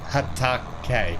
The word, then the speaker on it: Hatake: Japanese Lang Ang thing and I'm loving it Hatake yeah Hatake Hatake is that how you pronounce it yes okay yes BR okay yes